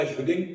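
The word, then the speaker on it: Hughlings: त्याला ह्युलिंग प्राईज मिळालं. त्याचं स्पेलिंग HUGHLING म्हटल्यावर काही लोक याचा उच्चार हगलिंग कसा करतात हा किस्सा सरांच्या तोंडूनच ऐकण्यासारखा असेल.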